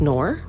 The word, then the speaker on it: Knorr: I think it's pronounced Knorr.